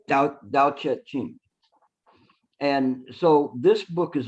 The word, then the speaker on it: 道德经: The Taoist, their main book, I'm going to butcher the name. It's Te Ching. How do you say that? 道德经 Say it again. 道德经 Tao Te Ching.